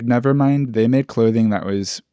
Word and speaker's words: NVRMND: But I think the best example of Witch House fashion, it's Nevermind. It's spelled like NVRMND, and it's an out-of-funk clothing line.